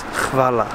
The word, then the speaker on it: hvala: And the way you say thank you in Croatian is hvala.